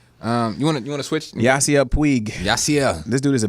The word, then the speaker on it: Puig: our baseball guy tell me why you believe puig did i say his name right yes okay